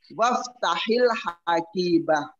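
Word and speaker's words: افتح الحقيبة: Hamzanya itu kan di awal jumlah. Makanya hamzanya dibaca if. Tetapi ketika saya masukkan huruf gua enggak akan dibaca gua iftahi, enggak bakal dibaca begitu. Tapi apa dibacanya? Waf hamzanya itu enggak kedengaran. Langsung apa? Waftahil hakibah langsung ya. Hamzanya itu tidak dibaca. Itu namanya hamzatul wasli.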